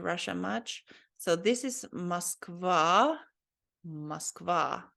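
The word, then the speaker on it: Москва: I think this O letter here is pronounced more like ah, because it doesn't have an emphasis on it here. So I think you're not supposed to say Moskva, but Moskva. So this is said like ah.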